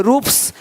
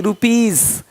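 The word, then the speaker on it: rupees: पी, टी आदि वर्ण हो तो एस का उच्चारण सा होता है। जैसे कि यहाँ पे रूप्स, यहाँ जा साउंड नहीं आएगा, लेकिन यहाँ पे एक्स नहीं एग्स। हीरोज, हीरोस नहीं, देख रहे हो, रुपीस नहीं रुपीज, ज का साउंड आ रहा है हल्का सा।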